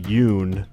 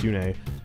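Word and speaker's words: Yune: they they mkhaya has mkhaya calls Yoon a Yoon for some reason and in its hurt it's pronounced Yoon a and what else people say I'm getting back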